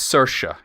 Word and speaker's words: Saoirse: Okay, yeah, it's Saoirse.